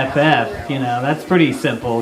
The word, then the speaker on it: Pottorff: It's Pottorff. It's a pretty simple name. It's spelled like how it sounds. Pottorff.